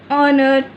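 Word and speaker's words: honour: हमेशा जो silent H, जब भी एच जो है हमारा साइलेंट होगा उसके आगे हम एन लगाएंगे। जैसे आर, ऑनर, तो यहाँ पे हमारी वॉवल की साउंड आ रही है, तो इसलिए हमने इसके आगे एन लगाया है।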